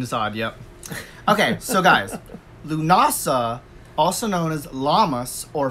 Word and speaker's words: Lughnasadh: story about lu dasa i actually thought for a longest time it was pronounced luke mossad which it is not even pronounced that way it's pronounced Lughnasa first of all but